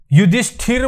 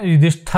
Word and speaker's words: युधिष्ठिर: विष्णु तो इसलिए स्थल यह युधिष्ठिर बोलते हैं विड्थ नहीं बोलते हैं युधिष्ठिर शुद्ध उच्चारण भी